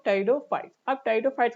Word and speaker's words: Pteridophytes: गया इसका Tide fights इसमें पी साइलेंट रहता है ओके पी क्या रहेगा इसमें साइलेंट गा यानी कि टेरन यानी कि पूरा नाम क्या बोलेंगे इसको हम टेडो फाइट्स अब टेडो फाइट्स का